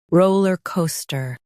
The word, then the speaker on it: rollercoaster: ra la ca sta roller coaster ra la ca sta roller coaster Emphasize ro and co. Keep ler and ster light.